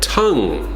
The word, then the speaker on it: tongue: Tongue. Tongue. The spelling is kind of strange, right? Like tongue-you, tongue, tongue.